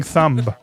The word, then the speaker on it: thumb: Makoto, what are you covering with your stupid, fucked up looking thumb? He says thumb. He pronounces the B in thumb.